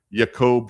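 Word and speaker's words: Jakub: people call him or Yakob Frank which is I think the correct pronunciation of his name.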